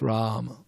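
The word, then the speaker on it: Rāma: If you hear all this recording he always chant Rama. The first a is a little longer ra and the shorter a ra not not rama rama is god lakshmi.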